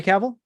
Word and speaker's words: Cavill: really cool and i like um henry henry cavill henry and sorry henry cappell yeah henry cavill so i said it right